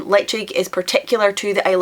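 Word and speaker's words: Ledaig: that's a weird one where the D becomes a g which you wouldn't know unless you'd heard someone say it because there are places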